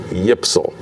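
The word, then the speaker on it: YPSL: y p s l if you try to pronounce those initials y p s l you get yipsal and so he became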